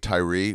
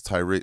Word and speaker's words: Tyree: Dude, we had this guy named Dave Tyree. We were starting. But it was spelled T-Y-R-E. And everyone pronounced it Tyre. Yeah. And he was like, it's Tyree.